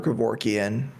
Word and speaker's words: Kevorkian: and uh also uncle if you're listening it's pronounced kevorkian not kevorki i do remember him saying the